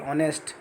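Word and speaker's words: honest: ऑनेस्ट, अब कुछ word silent होते हैं जैसे आवर, ऑनेस्ट, है ना, तो इसमें हमारा एच साइलेंट है तो फर्स्ट वर्ड ओ माना जाएगा, इसलिए आर्टिकल एन का यूज हो रहा है। ऐसे ए एल लिखा है, हेयर नहीं है, एच ही, एच साइलेंट है इसमें।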